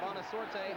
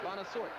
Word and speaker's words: Bonosort: I said Bonosaorte. I should say Bonosort. The E is silent.